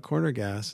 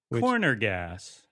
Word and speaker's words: Corner Gas: He pronounced it like you just did. Corner gas. Oh, geez, yeah. Instead of corner gas.